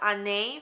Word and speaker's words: Harnais: bag is called the Anne bag because the H is silent in French.